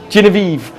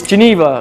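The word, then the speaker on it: Genever: how to say aera if you using Geneva don't say geniv or Y it's Geneva learn how to say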